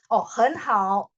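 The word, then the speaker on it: 很好: Hen hao. Kan dia tetap ditulis 3-3 karena aslinya 3-3. Tapi bacanya saja huruf depan ini jadi nada 2.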